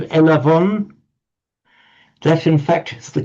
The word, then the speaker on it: Elavon: online payment systems called elavon. That, in fact, is the classical Greek for I have received. But they've actually used the modern Greek pronunciation of a v rather than a b.